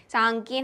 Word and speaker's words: साङकेन: सांकेन हम इसको प्रोनाउंस करते हैं।